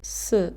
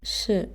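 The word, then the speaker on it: ㅅ: is a, o, u, then this letter should be pronounced as s. So sa, so, su, s. But if you combine it with the vowels from the second group, like ya, yo, yu, i, then you should pronounce this letter as sh.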